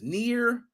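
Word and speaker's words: NieR: even read into the article the game is near automata it's how you pronounce it yo a shout out did you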